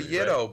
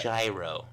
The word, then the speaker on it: gyro: Saying ytos, man. And not gyros. Oh, yeah. You got to be cult. It's a yto, bro.